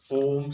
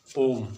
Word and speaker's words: ओम: जो ओ है इस पर रुक कर, ठीक है, कुछ समय लगाना पड़ता है। जैसे ओम, ठीक है, जब हम इसका उच्चारण कर रहे हैं तो हमें एक शब्द पर ओ है उस पर रुकना होता है, ठीक है, कोई भी है।